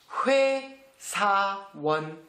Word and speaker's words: 회사원: La prononciation 회사원.